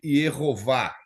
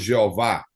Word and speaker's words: Yehová: acrescentou nesse tetagrama e tiraram o nome Yehová, que seria a pronúncia correta, que do nosso português nós falamos Jeová.